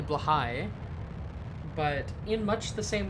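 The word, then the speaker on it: Blåhaj: It's also not how it's pronounced. It's apparently Blahai, but in much the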